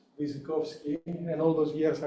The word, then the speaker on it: Wyrzykowski: for us uh our visitor whose name is pronounced as he said it hukas visovsky and all those years I was pronouncing his